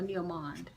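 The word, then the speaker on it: Neo Monde: Is it Neomonde or Neomond? Neomond. Okay, Neomond. So he says Neomond.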